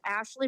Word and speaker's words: Ashleigh: My name is Ashley, and I have to spell it because it's the British way. It's ASHLEIGHMARIETHORNTON, just like Billy Bob. No relation, though. And I have known you forever. We have gone ghost hunting together, and I would always say your name wrong because of that English spelling.